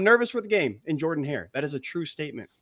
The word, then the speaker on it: Jordan-Hare: It's Jordan-Hare.